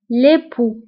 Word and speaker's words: l'époux: le mari أو l'époux بالنسبة l'époux كنكتبوها بX في آخر الكلمة ولكن لا ننطقها l'époux وبالنسبة للزوجة l'épouse فهنا